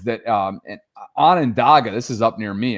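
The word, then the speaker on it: Onondaga: He says that um Anandaga, this is up near me. That's how I know how to freaking pronounce this.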